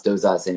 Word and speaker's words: Dauzat: That way you don't worry about spelling these crazy names because you can pronounce Doza but not everybody else can.